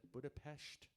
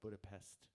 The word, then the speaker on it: Budapest: In Hungarian, SZ is the S letter in the English alphabet. Okay. S on its own is a sh sound, which is why people pronounce it Budapest instead of Budapest, because the S on its own is a SH tone.